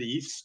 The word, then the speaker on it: EIFS: and I pronounce it EIFS because there's no I between F and the S, meet Passive House performance with field or panelized construction.